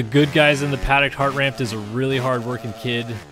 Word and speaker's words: Hartranft: then shout out Brandon Hartranft who or heart raft heart ramped whatever you want to call it people say the N is silent don't know how the end can be silent in the middle of all that jumble but anyway heart